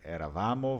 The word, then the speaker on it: eravamo: Eravamo, eravate, enquanto os outros a sílaba tônica tende aí pro início, né?